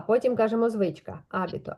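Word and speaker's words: hábito: Абіто. Тут на а стоїть рисочка. Значить, я не ігнорую її і ви вимовляю сильніше.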